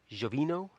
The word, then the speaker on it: Giovino: With Alessandro Del Vecchio and Francesco Giovino. Is that how you say it? Giovino, exactly.